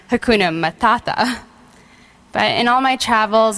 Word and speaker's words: Hakuna Matata: two words very common to any American kid, Hakuna Matata, which after a few days in Rwanda, I found out it was actually pronounced Hakuna Matata.